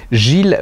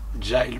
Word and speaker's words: Gyles: de sa mort, je n'ai jamais réussi à prononcer son nom. Gilles Brandreth. Non, on dit pas Brandreth? Giles Brandreth.